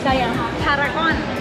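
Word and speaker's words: Siam Paragon: of the mall uh the mall name say say Paragon say Paragon Paragon largest mall right let's start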